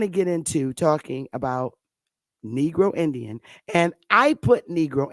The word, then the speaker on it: negro: If you ask negro, negro, that's how you say it in Spanish, negro.